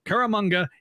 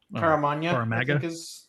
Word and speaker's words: Caramagna: Did I say it wrong? I think the G comes before the N. Caramagna. Caramagna maybe because Italian.